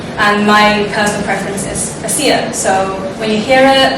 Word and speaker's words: ESEA: and whenever we spoke i realized everyone actually pronounced that acronym for eastern southeast asians differently some people call it esea some people call it ec um some people call it a seer and my personal preference is a seer so